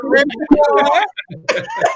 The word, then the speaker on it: Revoir: Revoir. Pronounced the same as Francois Revoir. Right, Revoir.